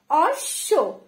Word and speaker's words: অশ্ব: পরের শব্দটি রয়েছে অশ্ব, অশ্ব না কিন্তু অশ্ব, মানে ডাবল উচ্চারণ হচ্ছে অশ্ব।